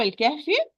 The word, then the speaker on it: الكهف: أصحاب الكهف. So the hamza wasl will be dropped. Lam will be pronounced. So I'm going to move from the ba with fatha to the lam with the sukun.